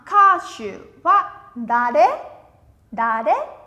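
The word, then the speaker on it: 歌手: Ca sĩ sẽ đọc là kashu. Vẫn là đi xuống. Minasan sẽ no kashu. Kashu, không có trường âm, chúng ta không kéo thành shu dài nhé. Kashu, dừng như thế là được.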